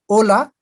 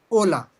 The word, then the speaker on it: hola: And what is the spelling of hola? Why don't we say hola? We say hola. Because in Spanish, H is never pronounced.